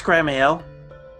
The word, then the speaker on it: Gramiel: uh gr gram grammar how do you say your name premium it's grammar yeah okay listen smithing has